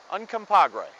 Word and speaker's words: Uncompahgre: This Ute word is a bit of a mouthful, but it's pronounced pretty much how it's spelled. Uncompahgre.